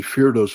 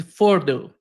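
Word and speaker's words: Fordow: underground facility, but originally Ferdos was part of a series of evacuation sites created by the by the Iranians. U, they they pre-built these underground facilities to evacuate. Yeah, the correct pronunciation is foro.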